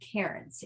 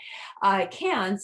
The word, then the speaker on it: Cairns: correct than karen's is they don't pronounce that r the same way that that we do typically um a really a spectacular day that we get to enjoy in uh cans is our day trip